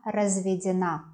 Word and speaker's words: разведён: Feminine form, feminine short adjective, is я разведена. Also, we can use it in plural. Мы разведены. Итак, я разведен, the stress on ё, я разведен.